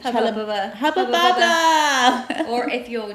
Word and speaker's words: Hubba Bubba: Hubba bubba. Hubba bubba. Or if you're German, Hubba bubba. Hubba booba. Yeah, apparently that's how you pronounce it in German. Hubba booba.